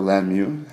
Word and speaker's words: Lanmu: Well, that's another quality product brought to you by Lanmu, or Lanmu, as it's pronounced.